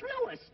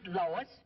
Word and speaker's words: Louis: the plant Lois Lois me name is LS not Lois J W everybody enolates me name wrong it's LS l o u i s Lois uh Louise Lucy